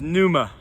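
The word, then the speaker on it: pneuma: prepared to be impressed its Numa spelled PN I'd honestly Tony remember how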